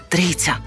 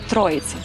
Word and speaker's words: Трійця: Майже 2000 мешканців своє село називають Трійця Це принципово важливо розповідає місцева вчителька представниця тутешньої Просвіти Прийшла Радянська влада і перейменували на троїця во їм так зручніше На їхній мові російські челюсті не можуть вимовляти Трійця За легендою заснували село